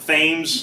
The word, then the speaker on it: Thames: The Thames. Yeah. The Tahamas. Thames River tends to be the most popular. They are on the, I'm going here, narrator, end of story. They're on the Thames River, which location, like geographical location on the